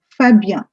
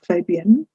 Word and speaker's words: Fabien: The next is Fabien. No, it's not Fabien. It's Fabien, is the name of a boy.